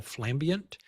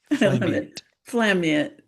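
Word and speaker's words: flambient: Uh or you can do a flash and ambient blend technique that we call flamant. Um and okay, I got to spell that. F. Yeah. F L A F L A M B I E N T flamiate. So flash and ambient.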